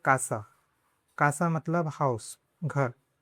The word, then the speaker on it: casa: For example, casa is pronounced "kasa."